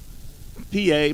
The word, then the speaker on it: Pie: PA, pronounced PA, is spelled like pie, P-I-E. If he was a pitcher, his ERA would be 3.16, which is pi.